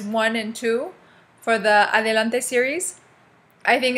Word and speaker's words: Adelante: I'll first say it like the anglicized way and then I'll say it, you know, the Spanish way. It's called Adelante. Okay. The book is called Adelante. Adelante Uno Unoidos.